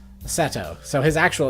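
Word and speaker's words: Setou: good mornings at AO Seto yeah Seto probably Seto Ryan I have to remember that it's an O sound it's not a it's not pronounced in the English way Seto so his actual name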